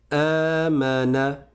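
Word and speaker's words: آمن: Les deux mots se prononcent pareil. Aman C'est le verbe croire ou bien avoir foi.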